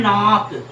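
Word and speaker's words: knock: बच्चों याद रखना जैसे होता है नाक नाक के नाक देखो साइलेंट क्या होता है किसी के से दूर लॉक करते हैं खटखटाते हैं तो क्या हो गया बच्चों खतना ये ना केक हो गया साइलेंट तो हो गया नाक ठीक है बच्चों तो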